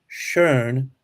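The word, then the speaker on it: schön: if you put two dots over the o shern means pretty so it changes the the sound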